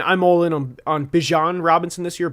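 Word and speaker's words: Bijan: I'm all in on on Bjan Robinson this year? Bjon is how you pronounce his name.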